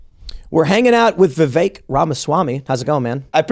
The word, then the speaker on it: Vivek: And before I had you on the show, I was saying Vivek, and everybody says Vivek because it's just, I don't know, anglicized or whatever. But I would also say that's very fair because it is spelled Vivek. So that is a pretty phonetic pronunciation. But the way it's pronounced is Vivek.